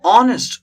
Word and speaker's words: honest: Honest. Look at this. H is silent here.